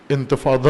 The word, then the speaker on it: انتفاضہ: یہ انتفاضہ سوم ہے، انتفاضہ جیسے یا انگلش تلفظ کے ساتھ آپ انتفاضہ کہتے ہیں، انتفاضہ ہے ضاد کے ساتھ، ظالین سے جو ضاد ہے، نہضت میں جو ہے انتفاضہ.